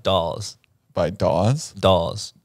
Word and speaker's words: Dawes: to a man like dolls by dolls dolls dolls stalls like the figurines no like dolls how do you spell it d-a-w-e-s dolls okay like all but with the in front of it dolls jared what do you